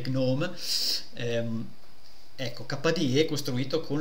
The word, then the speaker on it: GNOME: per esempio famoso kde antagonista di gnome o di gnom Insomma come volete pronunciarlo Io me viene da dire gnome ehm Ecco kde costruito